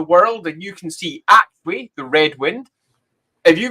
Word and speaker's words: Aqshy: Aqshy. Fire. Aqshy. Okay, Aqshy. Now, there's lots of ways to say it. Now, Aqshy is how it's most commonly pronounced, but you'll find that often in the